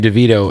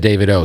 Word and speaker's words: Davido: on the album with me yo you just pronounced your name DeVito and I have always said that but when I first met you you said David O so I'm confused David O